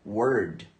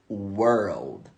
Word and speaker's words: world: várias palavras por exemplo a palavra mundo você acha que é Word Word só que não a pronúncia certa é essa aqui ó world world isso aqui não só